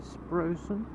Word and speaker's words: Sproxton: No, there is one leading into Sprosen, as this village is, although it's spelled Sproxton, it's actually Sprosen.